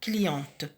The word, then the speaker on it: cliente: T à la fin parce que avec le E, on prononce T, cliente.